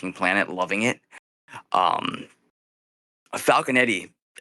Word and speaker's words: Falconetti: Um, Falconetti, is that is that how you pronounce her name? How do you pronounce her last name? Falcanetti. Is that sound right? Yeah, Falconet.